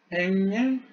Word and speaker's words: 행인: 일본식으로 발음을 행진이라고 하는데 행인입니다. 걸림, 얹힘, 행인, 걸림, 얹힘이 되겠습니다.